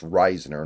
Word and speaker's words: Risner: oh by the way his name is pronounced Ryner not Risner my bad so Ryner